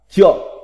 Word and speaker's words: trượng: Chữ thứ 39, chữ trượng, âm Hán Việt đọc là trượng, nghĩa Việt là đơn vị chiều dài, 10 thước ta là một trượng.